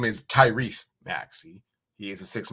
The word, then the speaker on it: Tyrese: And by the way, his name is Tyrese Maxey. He is the 6th man of the year, so put some spec on his name. Don't say his name wrong. It's not Tyrone. It's Tyrese.